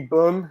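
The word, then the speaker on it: Böhm: Got the next fight here, Mandy Bohm. I think I pronounced it right, Marcel? Mandy Bohm.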